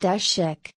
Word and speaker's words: Tešić: Career: Steve Tesich was born as Stojan Tešić, Serbian, pronounced Tešić, in Užice, in Axis-occupied